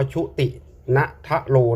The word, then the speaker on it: ชุตินธโร: ชุติน ทะโร ชุติน ทะโร แต่ อัน นี้ ก็ อ่าน ว่า ชุติน ทะโร นะ ครับ ปี 2567 นี่